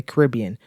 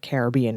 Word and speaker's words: Caribbean: to check out in the Caribbean or Caribbean as some say by the way both pronunciations are acceptable but this is not